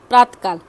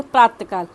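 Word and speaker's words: प्रातःकाल: है ऐसे होता है प्रातकाल इसको बोलेंगे प्रातकाल नहीं प्रातः काल बिंदी को जो विसर्ग के चि होते उसको ह से उच्चारण करते हैं प्रात काल भामह जैसे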